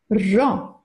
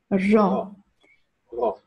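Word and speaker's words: ρο: Gut, dann geht es weiter mit unserem nächsten Buchstaben und das ist das Ro. Ro. Akrivos, genau, das ist ein gerolltes R.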